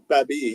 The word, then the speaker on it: Baby: Baby, yeah.